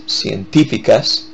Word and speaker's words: científicas: That's científicas. Accent on the middle I.